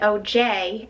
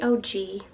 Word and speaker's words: OG: in the video and said it wrong cuz I said OJ and Bellini but it's really oh gee Oh J would make more sense to me but it's OG so that's the one I'm gonna use on